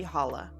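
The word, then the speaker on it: challah: Um, I think my my main favorite would be hala. Uh, it's spelled C H A L L A H.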